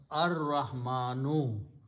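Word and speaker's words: الرحمن: al means da, and this al will kill the sound of ra and pronounce as ra will kill the sound of lam, so it will be pronounced ar-rahma, and al changes one dhamma, so it becomes ar-rahmanu.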